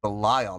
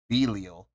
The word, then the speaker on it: Belial: I think they're mispronouncing it. If it's what I think it is, it's Belial, not Belial.